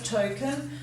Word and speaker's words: token: Token, tend to give that a schwat sound at the end, but you've got to know it's en.